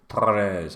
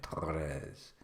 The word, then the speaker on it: Torres: Try and pronounce Torres by doing that roll in the R thing. Torres. I couldn't do that when I first moved to Spain. Torres.